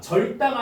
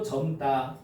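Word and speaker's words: 젊다: 자, 절다가 아니고 점다.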